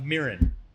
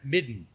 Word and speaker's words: midden: It begins with a mirin, not a mirin, midden. Midden.